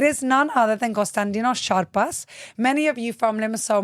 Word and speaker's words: Charpas: You said my name wrong from the beginning. Charpas, it's Charpas, but it's okay.